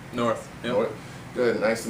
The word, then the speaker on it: Nauerth: Am I pronouncing it right? Nauerth? Nauerth.